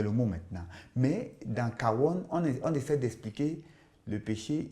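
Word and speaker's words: עוון: Et il y a un autre mot, toujours hébreu, qui se prononce kawon.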